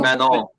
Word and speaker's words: Manon: I don't know how you pronounce it. Mignon. Manon.